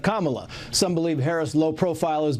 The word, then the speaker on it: Kamala: to mispronounce her name calling her camela instead of Kamala some believe Harris lowprofile